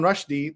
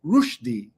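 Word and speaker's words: Rushdie: you know that you've also been saying another name wrong? Instead of Salman Rashdi, the way we all say it, it's Rushi. Rushi. Salman Rushi instead of Rashdi. But if you go around saying Salman Rushi, people think you're crazy.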